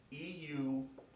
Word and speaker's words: Eutyches: Eutyches. Eutyches. And in Greek, the emphasis is on the first syllable, and this is a long A in Greek.